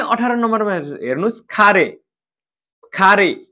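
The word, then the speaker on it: かれ: नै 18 नम्बरमा हेर्नुस् खारे खारे हिरागानाको का अगाडि आउँदा के उच्चारण हुन्छ खा उच्चारण हुन्छ गुड खारे खारे भनेको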